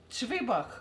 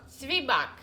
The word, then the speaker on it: Zwieback: How do you say it? Zwieback. Zwieback. Zwieback. It's a German. Actually, it's a German word.